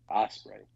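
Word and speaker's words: Ospreay: versus Willow spray how do you say it Osprey Osprey okay listen again the video that just came out from the the Rev Pro Show today where Jericho went to that show and attacked Osprey yeah yeah I heard about that um I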